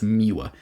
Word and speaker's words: Muir: I always am concerned I'm pronouncing that wrong. I think it's Muir, M-U-I-R.